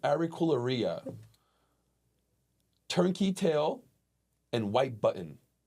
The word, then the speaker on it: Auricularia: Auricularia? That's right. Auricularia.